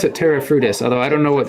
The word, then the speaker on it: Terra Frutis: indoors well yeah well we call it we pronounce it Terra frutos although I don't know what the actual Etruscan